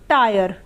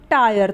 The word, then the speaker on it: tire: उसी तरीके से टायर, TIRE टायर, तो यहाँ पर भी आई के बाद RE है तो आई का उच्चारण आ य होगा, ट पे आ की मात्रा, य र टायर।